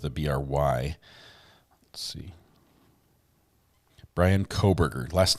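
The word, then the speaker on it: Kohberger: up here um the suspect's name is Brian spelled with a Bry let's see Brian coburger last name is k-o-h b-e-r -g-e-r Brian coburger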